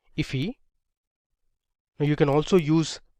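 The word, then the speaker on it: IIFE: 35 so this is known as an immediately invoked function expression or iif which is often pronounced as ify now you can also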